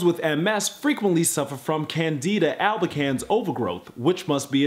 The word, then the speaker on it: Candida: Let's see how you pronounce candida. Like, is it candida? Candida? Candida, that sounds like my neighbor down the hall in 3G. Hey, what's up, Candida? I see you, girl. Candida. It's Candida.